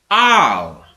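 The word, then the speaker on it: על: This corresponds to the letters I L in English, but instead of pronouncing it with the I sounds that are found in the words ill or island, it is pronounced with an R sound. Al.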